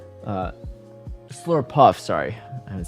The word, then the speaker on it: Slurpuff: bit having that return banked for um that slurp up uh slurp slur puff sorry I haven't said that Pokemon's name in